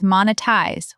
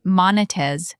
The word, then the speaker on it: monetize: a Z sound, but in English it's monetize with a soft Z and the stress on the first syllable. Mon-e-tize. Not mon-e-tize. The stress matters. Mon-e-tize. Got it. What about Arabic speakers? Great question. Arabic speakers sometimes drop the final Z sound and say monetez.